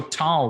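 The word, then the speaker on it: Taal: blockchain we can do that but there's also tall which is a publicly traded uh canadian company it's spelled uh t-a-a-l they're named after the filipino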